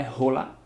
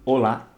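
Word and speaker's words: hola: ou lá ou lá não é rola e sim Olá beleza cuidado com isso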